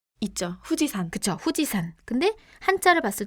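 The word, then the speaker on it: 富士山: 후지산. 그쵸. 후지산. 근데 한자를 봤을 때 맨 끝에 산자가 들어가 있는데 이거 후지야마 아니에요? 라고 할 수 있겠지만 여기선 또 후지산이라고 읽어요.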